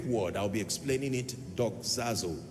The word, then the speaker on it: doxazo: teaching tonight on a subject that I titled dog zazo I want to teach you how the Saints